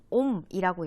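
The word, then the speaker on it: ohm: 얘가 그리스 문자인데 읽을 때는 옴이라고 읽어. 오메가라고 읽기도 하고 옴이라고 읽도록 약속하자. 물리에서 저항의 단위는 옴이라고 읽는 거야.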